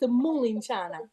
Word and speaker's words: mulinciana: So what is the correct way to say that? Melanzana, it's Italian. Mulinciana, Sicilian.